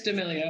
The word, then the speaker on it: D'Amelio: She was saying D'Amelio. Like, there was a period there. Charli D'Amelio. Yeah. But it's D'Amelio, and I see that now.